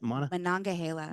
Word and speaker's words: Monongahela: Monongahela.